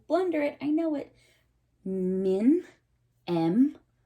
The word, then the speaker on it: Mnemosyne: Mnemosyne. Mnemosyne.